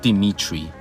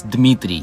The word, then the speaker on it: Dmitry: It's definitely not Dmitri. It's Dmitry.